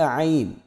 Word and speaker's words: عین: فرق نہیں کرتے، تو عین کو بھی حمزہ کی طرح ہی پڑھ دیتے ہیں، تو اس پر ذرا محنت کی ضرورت ہے اور اس کے تلفظ کو خوب اچھی طرح سمجھ لیں۔ آئیے میرے ساتھ مشق کریں، عین، حلق سے آواز نکالیں، عین۔ جی اگلا حرف ہمارے